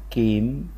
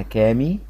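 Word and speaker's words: come: الاخيره في العمود دوت اسمها كيم برضو مش هقولها كامي لان الاي مش منطوقه مش هقولها كام لان الاي ورا وراها اي تتنطق اي تبقى الكلمه كيم بص لو انا ما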